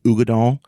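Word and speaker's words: Uigeadail: And it's spelled weird, so it's Uigeadal. So Ugadale, but it's actually Ugadal. So it's just pronounced Ugadal or Ugi. We all just call it Ugi for short.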